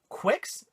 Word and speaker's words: Qix: I believe it's pronounced Quicks. QIX. quicks if I'm not mistaken.